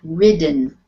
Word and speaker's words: ridden: So what makes it the short vowel sound I? If we wrote it like this, that would be ridden. But because it has the double D before you put the E end on, that makes it ridden. With the short vowel I, ridden.